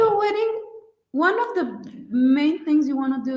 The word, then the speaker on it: May: It's pronounced M-A-Y here. It's pronounced Mai.